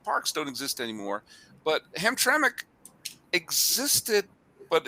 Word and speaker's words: Hamtramck: Am I pronouncing that correct? Yeah, Hamtramck Park? Hamtramck.